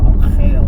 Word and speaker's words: Al Khail: the E44, which is called the Al Khail Road, or Al Khail Road, I suppose, if you want to say it properly.